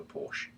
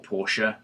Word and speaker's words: Porsche: dissimilar in looks to a Porsche or pora however you want to pronounce it um we've seen him